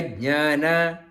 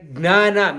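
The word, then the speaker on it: jñāna: Our Hindi, because of the Hindi, we do not pronounce properly moga gnana. Many people they say mogasha, moga karmana, moga gnana, not gna, jna.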